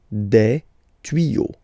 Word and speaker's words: tuyaux: Same rule, you don't pronounce it. Des tuyaux. Okay, un tuyau, des tuyaux. So the only difference will be with the article because the word will be pronounced the same way.